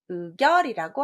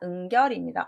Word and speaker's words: 응결: 답은 은결, 의결이라고 합니다. 자, 의결이 아닙니다. 응결입니다. 엉길의자인데요. 이 뒤에 있는 한자 의심할 의자 때문에 우리가 엉겨 붙은 것을 응결이라고 하지 의결이라고는 하지 않습니다.